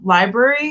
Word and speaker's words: LBRY: So I really think places like BitChute, I heard Library is another one. It's spelled weird. It's like LBRY.